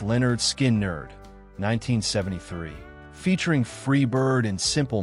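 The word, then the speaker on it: Lynyrd Skynyrd: Leonard Skinnard. Their debut album, Pronounced Leonard Skin Nerd, 1973, featuring Freeird and Simple Man, established Leonard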